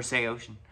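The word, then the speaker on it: Saosin: formed after anthony green left sales or say ocean if you're uh you know hip to the pronunciation that uh some know but uh fortunately um i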